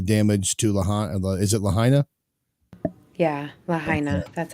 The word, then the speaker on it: Lahaina: Is it Lahaina? Yeah, Lahaina. That's how it's pronounced.